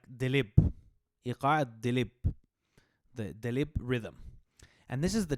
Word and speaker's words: Daleeb: right so that was dalip it's actually pronounced more like delib rhythm and this is